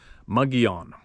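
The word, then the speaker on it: Mogollon: to make video and bigfoot mogalong monster pronounced muggy on kevin said if you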